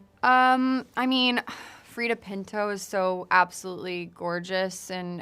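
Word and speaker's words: Freida Pinto: Um I mean Freda Pinto is so absolutely gorgeous in everything she does. Is that the right way to pronounce it? Yeah. Freda Pinto.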